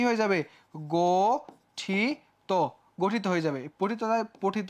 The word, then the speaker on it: গঠিত: আছে ইত যুক্ত আছে তাহলে কি হয়ে যাবে গঠিত গঠিত হয়ে যাবে পঠিত পঠিত হবে পয় ওকার